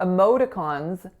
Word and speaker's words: emoticons: we use everywhere right so for emoticons first syllable is schwa second syllable is our winner then another schah and then a tense vowel so am moons once in a while you may hear someone say modons that's totally fine but the majority of